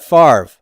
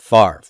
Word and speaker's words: Favre: this Favre Brett Favre now that name is actually a French word and they would pronounce it in France as father father okay we are nasty old Americans who don't follow anybody's pronunciation rules and we metastasize the V and the R sound and we switch them and we put that are before the V why because it's a